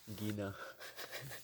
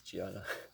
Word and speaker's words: Gianna: Gina. Oh, I thought you were making fun of me for like, you know, like mispronouncing the name, but Oh no, it's Gianna.